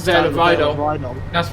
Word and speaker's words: Rheidol: Rheidol.